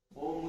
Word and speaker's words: ओम: जब हम ओम बोलेंगे तो अ उच्चारण नाभि से होगा, उ उच्चारण छाती से होगा और म उच्चारण मस्तिष्क से होगा।